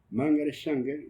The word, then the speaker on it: Margaret Sanger: Margaret Sanger, lo pronuncio en inglés.